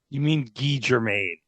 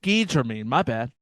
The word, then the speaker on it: Guy Germain: Of course he'd be Guy. French-Canadian. Guy Germain.